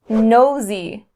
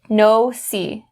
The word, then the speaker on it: nosy: The pronunciation you need to be aware of is upon the z in nosy. Don't change it to the s sound. Don't say no-see, no-see.